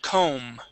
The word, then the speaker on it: comb: Yep, that B is silent. Comb.